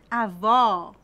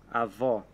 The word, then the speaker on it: avó: bolo e jogar bola Vamos repetir avô fechado avó aberto avô avó isso ok o avô